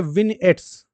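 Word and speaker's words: vignettes: टी ई एस इसको इसको इसमें जी साइलेंट है तो आप इसे पढ़ेंगे। ठीक है? विनेट्स अब यह जो विनेट्स है इसके बारे में जरा ध्यान दीजिए।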